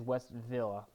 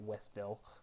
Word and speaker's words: West Villa: to win this game it is west villa by the way it's not westville west villa most people do pronounce that westville is west villa technically but we're really glad